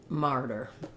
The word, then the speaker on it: martyr: two er sounds so your first r you have a little more time to get that r diphthong and then you want to be shorter but still have the tight er on the der syllable martyr um yeah it's not